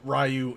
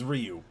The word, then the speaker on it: Ryu: I mean that that's probably why they added uh Rayu and or it's Ryu. It's technically pronounced Ryu, right?